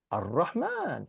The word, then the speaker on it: Ar-Rahman: the Arabs decided, okay, we're not going to pronounce the al, because it spoils the beauty of the language. So we say Ar-Rahman, it rolls off the tongue.